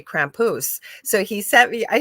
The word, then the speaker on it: Krampus: He kept saying, and I'm going, Krampus? Yeah, that's how you say it. We say Krampus.